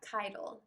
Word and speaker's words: Keitel: you say your last name sorry oh yeah title title okay i was like all right this